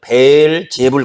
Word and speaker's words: 벨제불: 원래 이제 그 벨이라는 벨제불 그 말입니다 제불 원래 이제 원래 발음이 그래요 벨제불 그러니까 베 제불요 말은